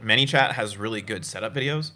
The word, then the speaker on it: ManyChat: ManyChat, like many people, yes.